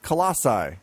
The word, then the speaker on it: colossi: get it technically yes more than one of them is called colassi that is how you say that I understand that but